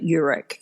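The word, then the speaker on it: Eurich: the work of an organizational psychologist called Tasha Uric and her last name is spelled e-u-r-i-c-h if you want to look up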